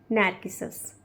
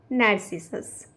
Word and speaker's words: Narcissus: इस क्वेश्चन का correct answer है ऑप्शन नंबर बी, नार्किसस या फिर नार्सिसस। आप इसे कोई सा भी प्रोनाउंस आप इसको कर सकते हैं।